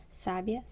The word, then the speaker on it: sábia: com maior menor intensidade sábia e Sabiá a sílaba em destaque em cada um dos exemplos é pronunciada com a maior força em relação às outras